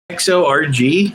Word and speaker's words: Kharg: It says Persian pronunciation XORG.